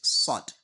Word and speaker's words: ص: So when you are eating, there's this particular sound that comes out like s. You understand? S. That particular sound, you have to pronounce sod in that way.